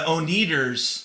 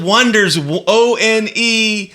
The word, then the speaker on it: Oneders: You remember that movie, The Wonders, and they said the Oneaters. Oh yeah. That's a good point. Yeah. So like that. We'll spell it Wonders.